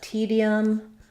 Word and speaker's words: tedium: the word tedium uh tedium rhymes with medium and so they both have the first syllable stress in tedium it's the